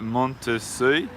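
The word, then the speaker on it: Monttessuy: So this is the street, if you're trying to pronounce it, Rue de Montessuie. See? That's how I pronounce it. That's how we pronounce it both.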